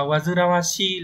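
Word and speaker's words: 煩わしい: Wazirawashi, từ đọc là Wazirawashi là chữ gì?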